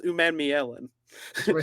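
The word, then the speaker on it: Umanmielen: So it's pronounced Umamielen.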